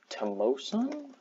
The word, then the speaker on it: Tomoson: I'm going to be using a website called tell OSA that's how you say it so just type